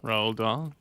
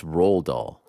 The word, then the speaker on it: Roald Dahl: great name you know that book Frank yeah Raul doll I think it's Roald Dahl oh Raul let's see roll a BFG from